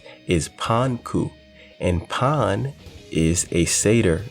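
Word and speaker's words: パンク: And interestingly enough, the way punk is pronounced in Japanese, or at least in Kid's case in Japanese, is Panku.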